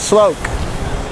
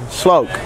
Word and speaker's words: sloke: the loc to l-o-k-e sloke i like the way it sounded because to me it rhymes with cloak like cloak and dagger the old comic book